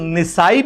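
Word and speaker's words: النسائي: this in Sunan Nasai' The word Nisai' is also correct, and Nasai' is also correct. Both pronounciations work.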